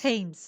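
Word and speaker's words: Thames: gut now number five okay H the Thomas tames is a river tames tames is a river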